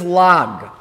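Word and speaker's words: ל״ג: In Hebrew, the way we'd express 33 is with the letters Lamed and Gimel. And we pronounce that as Lag.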